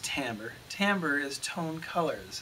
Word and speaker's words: timbre: with the rhythm timbre looks like timber t-i-m-b-r-e but it's pronounced tambour timbre is tone color